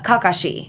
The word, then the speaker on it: Kakashi: saying for example uh Kakashi instead of Kakashi. No, we don't have words that are pronounced that way. We're we're sort of split like the um the emphasis is split kakashi.